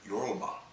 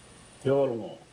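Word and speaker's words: Yolŋu: It seems as though I've been mispronouncing the name of this group of people for years and years, and the correct pronunciation is more like yolngu. And listen to the someone say it instead of me, and we'll hear how it sounds. yolngu.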